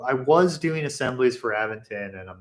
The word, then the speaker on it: Aventon: them was aventon uh which they pronounce aventon um but I say aventon and no one can tell me otherwise um so here's my